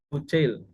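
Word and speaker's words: Bucaille: Ini ada Maurice Buchel ya bacanya.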